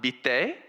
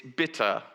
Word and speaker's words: bitte: It's not bitte, like maybe in other languages would pronounce. It basically means there's a lot of schwa sounds, this kind of sound. It's bitte.